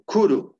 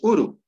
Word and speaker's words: kuru: final también la u kuru el gusano no en esto es en coo kuru pero en en chanca es uru se exu se extrae